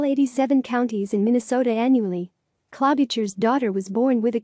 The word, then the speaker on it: Klobuchar: of Christ other facts her last name is pronounced Clos Bashar has noted that she visits all 87 counties in Minnesota annually claw Beecher's daughter was born with a condition that prevented